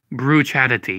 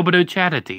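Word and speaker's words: Bucciarati: Bruchadati. Yeah, that's how you say it. Bruchadati. Bruno Brucciarati. And you have to say it with like a little Italian fling to it too. Bruno Brucciarati.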